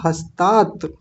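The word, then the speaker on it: हस्तात्: यहीं से शुरू होंगे यहां एक त और है देखिए दो त बने हुए हैं एक ऐसे और एक ऐसे ध्यान दीजिए एक ऐसे और एक ऐसे ये दोनों आधे त होते हैं दो त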